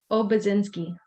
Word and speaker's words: Obiedzinski: By the way, please pronounce your name. Obiedzinski.